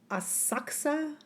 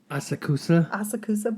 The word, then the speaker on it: Asakusa: Asakusa, but that's not how they were saying it. They were saying it much faster. It looks like Asakusa, the Asakusa Sumo Club, but it's like Asakusa. That's how they say it, very fast.